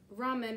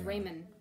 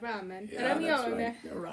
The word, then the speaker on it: ramen: kidding but it's again the r may be difficult for some americans to pronounce it's right it comes